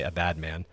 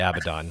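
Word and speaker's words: Abaddon: things I'm pretty I'm I'm absolutely convinced that we're supposed to say a bad man we're not supposed to say abidon we're supposed to say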